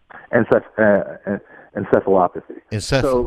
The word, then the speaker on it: encephalopathy: You evaluate other, like traumatic brain injury, chronic and traumatic, and I can't pronounce this. I'm on your website. Encephalopathy? Encephalopathy.